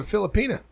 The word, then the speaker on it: Filipina: I was never willing to do two at once, except for the Filipina. Pina. You don't say it like a jalapeno.